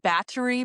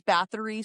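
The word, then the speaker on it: Báthory: thinking of Countess Bat I think it's pronounced Battery, but Countess Bathory, some people say.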